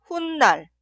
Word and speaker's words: 훗날: Se pronuncia 훗날, 훗날. En la pronunciación, la palabra anterior termina con la consonante final ni은 y la palabra posterior inicia con ni은. Aquí agregamos 사이시옷.